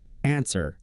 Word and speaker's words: answer: Answer. The odd one out here is answer, because the W is silent. In the other words, wind, wound, the W sound is pronounced.